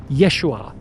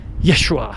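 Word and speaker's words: ישוע: His real name was Yeshua Kamashiach. That's how you pronounce it in Aramaic.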